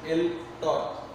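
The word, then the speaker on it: El Tor: Actually I was pronouncing it as an EI, actually it is not EI, it is ELTOR vibrio.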